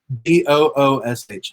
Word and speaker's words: Boosh: I think it's spelled what? Boushh. Boosh.